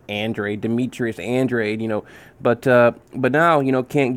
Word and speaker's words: Andrade: I say Andrade, but I think it's Andrade.